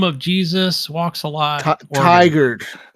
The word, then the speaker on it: Tigard: Tiger. Tiger. Tiger. Is that how you say it? Okay. Not Tigard.